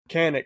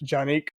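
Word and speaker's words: Canik: they did one on canic it's a Turkish brand actually pronounced Janik and um of course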